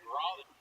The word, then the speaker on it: Raleigh: Isn't that right, Raleigh? Saying it right, Brian. It took us months to figure it out.